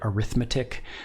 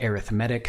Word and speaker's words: arithmetic: introduce an arithmetic sequence I know this looks like the word arithmetic arithmetic we pronounce it that way when it's a noun in our language when it's an adjective to describe what kind of sequence we're using we pronounce it arithmetic so an arithmetic sequence